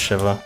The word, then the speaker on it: Shiva: wrong the entire time I'm pretty sure it's Shiva at least in terms of its native pronunciation because I think Shiva might be the pronunciation for the Jewish morning period but Shiva is for the Hindu deity uh I just looked